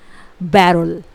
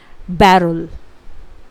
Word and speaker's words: beryl: Spelling होती है BERYL। इट इज़ बेरुल। एक बार फिर से, बेरुल।